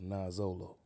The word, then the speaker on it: Noxolo: Now the X is pronounced with a Z, so it's Noxolo.